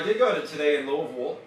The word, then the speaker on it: Louisville: Well, I did go to today in Louisville. Louisville. You have to say it like that. They get mad. It's not Louisville.